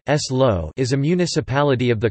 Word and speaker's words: Salou: Salou (Catalan pronunciation: S-lo) is a municipality of the comarca of Tarragonès, in the province of Tarragona, in Catalonia, Spain.